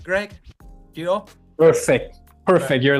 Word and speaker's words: Yeo: Yeo?